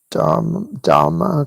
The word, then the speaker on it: Dhamma: I don't know how to pronounce this I say dhamma because they don't put a r in it in the spelling honestly like the way actual Buddhists say it sounds like drama drama drama but whatever.